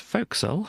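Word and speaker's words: forecastle: here we've got the four castle or focus pronounced folk soul yes it says and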